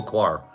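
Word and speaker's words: coir: of mushrooms we grow it's spelled Co then there's a space and then it's quar c i r so that's um the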